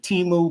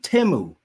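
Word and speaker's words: Temu: I used to say Timu, but there were so many Super Bowl commercials over the week, and I was like, oh, it's actually, you pronounce it Timu.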